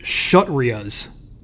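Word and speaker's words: Kshatriyas: scholars the next is that four that's actually pronounced shut Ria's okay the shut Ria's are warriors and the wealthy the next is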